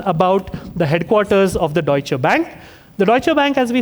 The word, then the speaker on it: Deutsche Bank: Dish Bank. Deutsche Bank is correct. We will accept pronunciations.